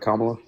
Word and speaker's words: Kamala: Kamala?